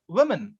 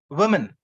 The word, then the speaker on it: women: e phoneme win or we have women in in this word woman we have the letter o and we also have the letter e both are pronounced e women we then e women